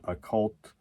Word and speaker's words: Okkult: Occult. It's a cult with K's, right? O-K-K-U-L-T, that's occult.